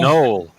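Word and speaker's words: gnoll: A knoll. A knoll? Yep. Pronounced exactly like it sounds.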